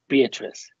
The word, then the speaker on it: Beatrice: her name was indeed beatrice it had a certain flow three syllables and never just two thank you very much